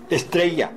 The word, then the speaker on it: Estrella: 거기다가 리을 발음을 넣으시면 안 됩니다. Estrella.